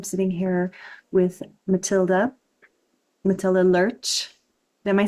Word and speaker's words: Lerche: In Danish, we pronounce it le but it but I usually pronounce it lurch when I speak.